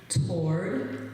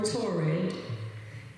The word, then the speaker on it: toward: word word torid toward there are two pronunciations toward or torid it means in the